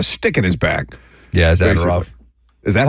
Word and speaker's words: Zadorov: Zadorov. That's how you pronounce it.